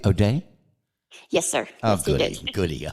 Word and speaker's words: Odeh: it's my pleasure you're most welcome did I pronounce that correctly OD day yes sir oh goody goody okay wow man